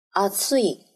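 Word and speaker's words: 暑い: 热，暑い，声调是二。变成副词，阿兹库。大多数的三个假名的形容词的原形的声调都是二，阿兹伊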